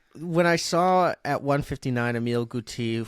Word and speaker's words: Emile Guité: But yeah, when I saw at 159 Emile Guité, who is obviously the correct pronunciation for that, Yes, I would say, yes, for sure.